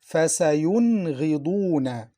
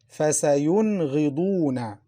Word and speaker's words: فَسَيُنْغِضُونَ: فَسَيُنْغِضُونَ. Listen, فَسَيُن. The Noon is pronounced clearly. فَسَيُنْغِضُونَ.